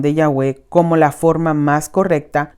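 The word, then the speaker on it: Yahvé: páginas 16 y 18 que ya ve es la mejor pronunciación del tetra grama ton este libro ha sido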